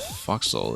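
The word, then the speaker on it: forecastle: Yeah, Netcat, you might be thinking of a for castle which is actually properly pronounced at foxhole.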